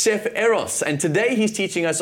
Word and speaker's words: Eros: It's Chef Eros, and today he's teaching us all about his own traditional Nigerian cuisine, and Jeannie's with him on the couch. I am indeed. Now, Chef Eros, welcome to Afternoon Express.